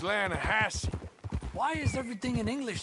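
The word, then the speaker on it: Lannahechee: the other day I rolled down to the Lana Hetchy river I caught some beautiful steelhead trout you maintenance it runs right near here yeah but it's pronounced Lana Hass why is everything in English said differently than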